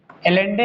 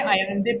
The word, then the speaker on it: Allende: आपने पढ़ा था कि देखो, हमने ये कह दिया कि सल्वाडोर अलेंडे, सल्वाडोर अयांदे, अयांदे लिखें या एलेंडे लिखें? एलेंडे है, अयांदे पढ़ते हैं, ये प्रोनाउंसेंस है। एलेंडे लिखा है लेकिन अयांदे इसको पढ़ते हैं।